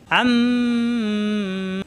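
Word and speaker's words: عَمَّ: তাসদিদ গুন্না পর ওয়াজিব ওয়াজিব গুন্না হয়ে যাবে আম্ম তাজিদের কারণে দুইবার পরে মিমে আছে জবর মা এই মা কোন টান নাই আম্মা আনন্দে চাপ দিয়ে আম্মা ইয়া জবর ইয়া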